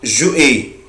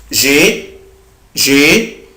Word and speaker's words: j'ai: في ناس بتنطقها جو اي، طبعا غلط جدا، مفيش حاجة اسمها جو اي. أنا الأبوستروف ده ولا يكون موجود، أنا بنطق الفيرب على بعضه. j'ai I have أنا عندي.